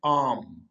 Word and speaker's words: arm: ये आर को आपने साइलेंट करना है, खामोश करना है, इसको वाजे तौर पे नहीं बोलना, जैसे ये है ही नहीं, तो इसको इस तरह से कंप्लीट वर्ड की शक्ल में लिखेंगे आर्म, ARM, इसको पढ़ना नहीं आपने आर को, ये साइलेंट है आर्म।